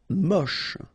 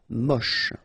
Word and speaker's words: moche: Moche. Don't insist on the final E, then you get the last sound is sh. Moche.